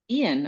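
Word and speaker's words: Eoin: Because I had a hard time imagining Ian. Okay. It is the Irish. Yeah, it's the Irish spelling um is e E I O N.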